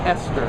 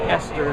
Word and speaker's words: Oster: It's Esther, I've been informed, by the way, too. I've been calling it Oster forever. Esther is the correct pronunciation of O-S-T-E-R.